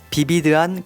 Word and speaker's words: 비비드: First, as you probably have noticed, the pronunciation of the adjective vivid is modified since we don't have the V sound in our language. So when foreign words that contain V sound, as in Victor, are adopted in Korean, they change